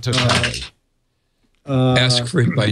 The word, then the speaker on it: TOTALe: So I looked it up, and in one of the press releases, it says we pronounce it Totale.